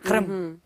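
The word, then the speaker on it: Qırım: б почати з того щоб ми навчилися правильно вимовляти кримськотатарською А ну давай Навчи нас хрим-хрим хрим хрим-хрим хримм от Супер Клас І дуже співчуття розумієш що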